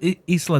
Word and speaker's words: Isla: Is this one Isla Nubar? Isa and Isla. You have to say it like that too, right?